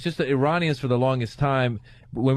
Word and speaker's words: Iranian: such an asshole because I said Iranian, and he goes, it's Iranian. And I was like, wasn't just a matter of pronunciation. He goes, no, actually, it's just Iranian.